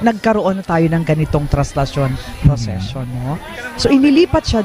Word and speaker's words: Traslacion: I remember one priest, actually it's being pronounced as Traslacion. Yes. But well, of course, Traslacion, For us Bicolanos.